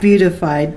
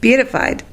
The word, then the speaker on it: beatified: She was Not beautified. I didn't say beautified. I said beatified. Beatified. Okay, beautified. Not beat it up, but beatified.